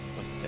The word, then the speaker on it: Worcester: Worcester is how you pronounce it.